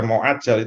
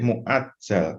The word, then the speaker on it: mu'ajjal: Nah, ini bacanya harus hati-hati karena ini kalau bahasa Indonesia kayak pakai ain. Kalau dibaca mu'ajjal itu salah ya. Baik mu'ajjal pakai hamzah.